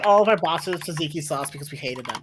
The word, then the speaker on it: tzatziki: Tzatziki is like what goes on gyros. Is that how that's pronounced?